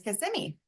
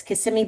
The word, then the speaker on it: Kissimmee: So I've decided that it's Kissimmee by day and Kissimmee by night.